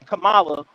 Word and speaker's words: Kamala: The name Kamala, pronounced Kamala, is an Asian name. It is not a black name. Her name ain't Kamala. They mispronounce her name. Her name is Kamala, and that name is very popular inside India, over there in Hindustan and Bharat.